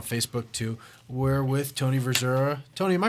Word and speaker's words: Verzura: We're with Tony Verzura. Tony, am I pronouncing that right? We had a discussion. I always pronounce it. I always say, I don't know, never mind. It's just Verzura.